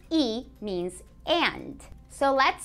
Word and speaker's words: y: is is is is the word e e which is just simply the letter Y and again that's pronounced e means and so let's